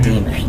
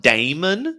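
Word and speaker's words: daemon: Actually, Damon is the legit name for a demon. Yes, there are demons here. There are. It's actually pronounced Damon, not Demon.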